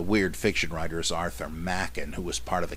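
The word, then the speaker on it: Machen: by the great Arthur Mackin m-a-c-h-e-n the same as J Gresham Machin spelled the same but pronounced differently just so you don't embarrass yourself the weird fiction writer is Arthur Mackin who was part of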